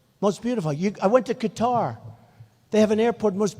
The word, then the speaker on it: Qatar: the airport in Qatar which they say Qatar I've always said guitar so what the hell